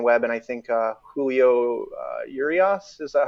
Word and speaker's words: Urias: there with Logan Webb and I think Julio Urias, is that how you pronounce it? Mm-hmm. Urias.